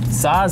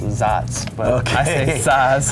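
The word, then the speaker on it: Saaz: then you've got um size hops or i've heard someone's corrected me and they're pronounced zots okay and these are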